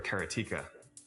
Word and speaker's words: Karateka: A lot of people say karate or keratika. In Japanese, uh there's no stress on any syllable, so it would be karate, something like that.